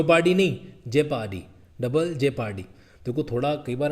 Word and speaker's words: double jeopardy: अच्छा एक और चीज़ सुन लो भाई, एक तो बोलता डबल जियो पार्टी, यहाँ पे भी प्रोनाउंसिएशन ठीक कर लो, ठीक है? कैसा है, वापस सुनो प्रोनाउंसिएशन कैसे बोला जाता है, सुनो इसको।